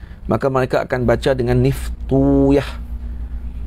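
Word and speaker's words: نفطويه: Maka mereka akan baca dengan Niftuyah. Niftuyah, tak baca dengan Niftawaih. Jadi waw itu disukunkan, ya difatahahkan. Mana Niftuyah atau Naftuyah dibaca gitu.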